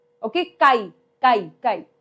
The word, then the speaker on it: chi: we pronounce it as chi. Okay? Chi chi chi, right? So, it is pronounced as chi, although it looks like an X, right?